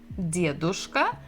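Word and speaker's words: дедушка: We have dia, d, dedushka, and here we have bukva v, devushka. And the stress is also the same syllable, the first. Dedushka, devushka.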